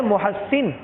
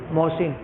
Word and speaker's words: محسن: فضائل اعمال میں شیخ زکریا صاحب نے اس پہ تلفظ لکھا ہے، فرماتے ہیں اصل ہے محسن لیکن لوگ کیا پڑھتے ہیں اس کو محسن.